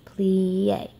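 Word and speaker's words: plié: die create as you say it like this plie we jet what's it say you say like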